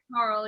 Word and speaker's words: Coral: That's a lovely name, Coral. Coral. Is that am I pronouncing that right? Coral? Coral, yeah.